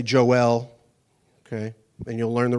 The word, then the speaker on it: Joel: name I'm Joel j o j o eel as some in pinasco would say Joel okay and you'll learn the reason why here in a few minutes so Joel my wonderful wife